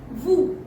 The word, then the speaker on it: vous: So this is vous, V-O-U-S. We pronounce it vous.